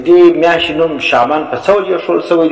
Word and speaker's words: شعبان: صحیح تلفظ زده کی دا لفظ شعبان دی بفتح الشین، د شین په فتحه باندې دا تورې ویل کیږي.